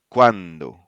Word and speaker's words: cuando: cambiar, Then we have ua, pronounced like the wa in wag. wag. Yeah. Cuando, Cuando, agua, agua, cuatro.